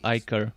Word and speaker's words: ichor: so I had the right pronunciation back when I was playing Grim Dawn. I was always calling it Ichor.